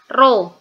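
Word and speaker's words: ρ: satuan SI m g yang kayak P itu ya itu bacanya roh jangan sampai nanti ketika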